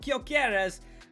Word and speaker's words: Gyökeres: It had to be a Swede striker, not Gyökeres. Or Gyökeres, I'm told it's pronounced, but Isak, he was at West Ham.